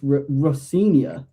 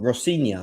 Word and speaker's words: Rosenior: Oh, can you tell me because I I don't I don't I think it's Rosenior. You're probably spot on. Rosenior.